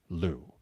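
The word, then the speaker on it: Liu: Leu but she has asked the media to pronounce it Lou. Yeah, she pronounces it Leo, but she wants us to say but she wants us to say Lou.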